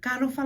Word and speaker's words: talofa: a manner of visitors, but if we were at home and a friend comes along and we're casually saying, talofa lava Santos, we're using the K, okay. And if Santos was coming as a former, CMS president, of course, I'll be very shocked to come and say, my husband will say, oh, there's a man, I say, talofa lava Santos, I'm using the T.